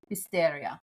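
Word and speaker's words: Fisterra: Fisteria. Well, there's the Fisteria is the little township. Yeah. Well, that's the Galathian pronunciation. The Spanish is Finisteria.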